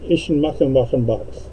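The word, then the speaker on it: Eschenbach: I was there on business, and they're called Eichenbach. That's how you pronounce that.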